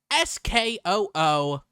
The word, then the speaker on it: Schuylkill: But it says sounds like Skookl.